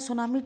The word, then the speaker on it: tsunami: और जैसा कि आप देख रहे हैं सुनामी टी वर्ड से स्टार्ट हो रहा है, पर इसमें टी साइलेंट है।